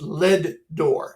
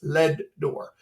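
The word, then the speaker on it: Leadore: out there in LED it's pronounced lead door every time I every time I uh every time I say it everybody always corrects me no it's not a door it's lead door and so um we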